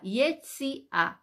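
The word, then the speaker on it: יציאה: dónde está No Naranjo y a yo dije y e t s i a quizás yo me equivoqué Disculpen Y si a y e t de Tomás ese de Silvia y de Italia a yesia entonces de nuevo Dónde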